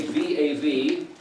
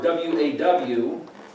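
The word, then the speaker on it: ו: the Bob and again some people say V a V or waw I usually spell that UA W to get the u sound in there but but it's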